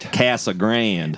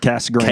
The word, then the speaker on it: Casa Grande: Casa Grand, right? Casag Grand. That's how you say it. Cas Grand. Cas Grand. Right.